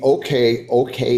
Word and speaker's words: OKeh: 1923, here in Atlanta, the OK, it is spelled OKEH, recording company recorded Fiddlin' John Carson.